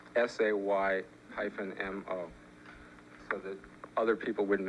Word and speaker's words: SAMO: Well, you see it written on the walls and you don't know how to pronounce it. Perhaps you should put in parentheses SAY-MO, so that other people